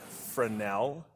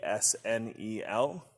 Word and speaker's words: Fresnel: here it's called a fresnel f r e f-r-e-s-n-e-l it's french that's why it has a silent s there a fresnel is a